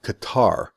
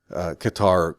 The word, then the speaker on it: Qatar: how I'm pronouncing Qatar I know it's pronounced with a glottal stop gut gut powered guitar